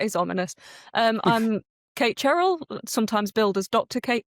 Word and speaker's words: Cherrell: Um, because I have with me here, Miss Kate Charelle. Am I saying that correctly? It's Cheryl, but you can pronounce it however you want.